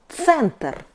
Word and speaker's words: центр: C sound C is like C in pizza. For example, center, center.